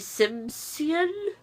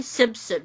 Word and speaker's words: Simsion: rosy effects by graeme simsion I always mispronounce that I always say Simpson for some reason I think I said it right this time but this is pretty